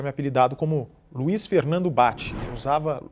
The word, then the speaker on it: Bacci: apelidado como luí Fernando bate usava luí Fernando Bassi a família inteira depois da entrevista do Jô passou a ser chamada de bate que é o pronúncia correta em italiano e eu vim aqui